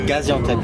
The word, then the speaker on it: Gaziantep: Comment ça se prononce? Gaziantep.